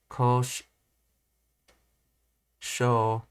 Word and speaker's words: 工場: When pronouncing a word such as ko sho, the ko simply extended and the u is not separately pronounced and definitely not pronounced as u.